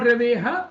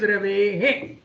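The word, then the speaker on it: रवेः: And when it comes at the end of Rave, it is not Raveha, but it is very intuitive. It is Ravehe.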